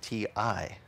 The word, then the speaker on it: ti amo: Kept saying to my daughter, ti amo. So she kept writing to me, T-E-A-M-O. I said, honey, ti amo is T-I-A-M-O. In Italian, ti amo is T-I. But it's pronounced te. But it's pronounced, or it's